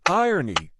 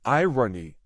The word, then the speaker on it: irony: I love irony, or as most Americans say it, irony. But it's really irony. Like ironing board.